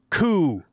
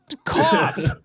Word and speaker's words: cough: T-H-R-O-U-G-H is pronounced through. Through? All right, fine. Then he developed a hacking coup. Cough.